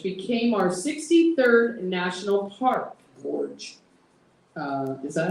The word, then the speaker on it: gorge: Gorge.